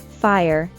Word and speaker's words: fire: used as an imperative although fire may look like a one-syllable word in reality we'd add a schwa sound when pronouncing it so it'd sound like this fire fire and don't forget the